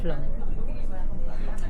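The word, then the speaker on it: Flåm: carretera i tornarem a Flom, que s'escriu Flam, però es pronuncia Flom.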